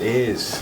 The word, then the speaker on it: Ayres: I think it's Lachlan Jerez, or Hayes, is it? Pronounced Ayres.